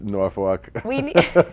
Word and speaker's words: Norfolk: It's Norfolk.